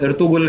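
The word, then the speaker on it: Ertuğrul: नो, जिन्हें उसकी spelling तो एर्तुग्रुल लिखते हैं, लेकिन प्रोनाउंस एर्तुगुल करते हैं।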